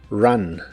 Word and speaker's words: run: La U la pronuncias como A, run, run, pero aquí equivale a corrido en español, en ideas como Have you ever run a marathon?